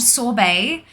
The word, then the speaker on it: Sorbae: It is called Sorbet, but it is spelt like Bay, like the annoying teenagers post on the socials. Yep, so SORBAE.